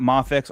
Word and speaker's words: Mafex: Um but big question is are we calling it Mafex or Mayex?